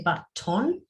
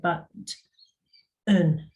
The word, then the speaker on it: button: of words okay so if I've got the word button we don't say button we say but and ah yeah yep tinsel